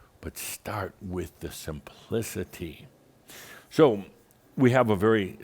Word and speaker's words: khamsa: It’s what’s called the khamsa, and it can be spelled k-h-a-m-s-a or just h-a-m-s-a. Khamsa (pronounced “haum-sa”) or khamsa (pronounced with a rolling “kh”).